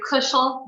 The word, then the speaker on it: Kushel: thanks carolyn um yes my name is kushel rhymes with bushel so i i dated